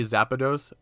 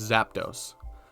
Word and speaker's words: Zapdos: I always say Zapdos back from when I played as a kid, and it's just a habit that's built into me. I always add that in between the two syllables, but it's Zapdos.